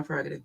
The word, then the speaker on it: prerogative: He started pronouncing that first R in prerogative.